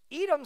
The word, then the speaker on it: Edom: Edom sounds like red. It rhymes with red.